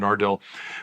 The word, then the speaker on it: Nardil: Sorry, it's been such a long time I forgot how to pronounce them. Parnate and Nardil.